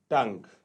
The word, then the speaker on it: tongue: TONGUE टंग, टंग में जो है क्या साइलेंट है, UE साइलेंट है, UE साइलेंट होगा हियर टंग में।